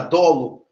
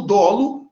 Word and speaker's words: dolo: fazer uma nota subir a pronúncia da palavra dolo eu durante muito tempo que sofrendo porque que o ódio ídolo é aberto se separaram detalhe muita gente chama o dolo de tolo com o fechado é e até eu